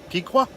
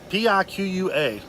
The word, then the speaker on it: Piqua: I think it's Piqua. P-I-Q-U-A. Piqua, I guess.